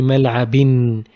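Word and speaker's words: ملعبٍ: When we make a double haraka on B, it will be mal'abin. It will be written with double haraka, but pronounced with n.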